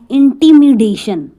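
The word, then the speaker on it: intimidation: तो इसी के साथ एक वर्ड है इंटिमिडेशन। देखो ज़्यादा डिफरेंस नहीं है, डी इसमें प्रोनाउंस हो रहा है, इंटिमिडेशन और इंटीमेशन, इंटीमेशन, ठीक है।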